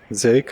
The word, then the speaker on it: Silke: Could go into that house or talk to Silke. Silke is how it is pronounced in German. I have no idea how I would pronounce that name in English. I would say Silk.